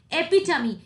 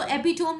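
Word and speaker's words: epitome: एपिटमी, इसको एपिटोम नहीं पढ़ते. What is the correct pronunciation of this word? It इज एपिटमी.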